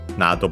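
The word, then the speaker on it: など: Nado, by the way, accented on the first syllable.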